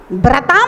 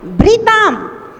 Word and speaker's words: भृताम: ये जो भ्री है ना, ये रा नहीं है, री है। हाँ, रा होता तो हम भ्रा पढ़ते, भ्रताम। भ्रताम नहीं पढ़ना है, भृताम भृताम।